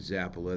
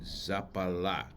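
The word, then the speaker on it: Zappalà: And they don't pronounce it Zappala. They pronounce it Zappala. Emphasis on the last thing, Zappala.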